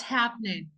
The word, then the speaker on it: happening: section number two what's happening what's happening so the first rule here we don't pronounce the g but what's happening no